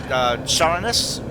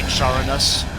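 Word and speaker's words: Charones: we get now from Charonus, Charonus, C-H-A-R-O-N-E-S. I sort of want to say Charonus, but it does. I think the CH with the K pronunciation sounds a little cooler. So let's say it's Charonus.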